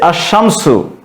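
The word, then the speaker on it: الشَّمْسُ: হয় তাহলে সেই ক্ষেত্রে সেই আলিফ লামের লামটি উচ্চারণ হবে না উচ্চারণ না হয়ে শব্দটির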